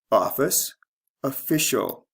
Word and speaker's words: official: in two parts noun office official the stress changes from first to second syllable notice the ending changes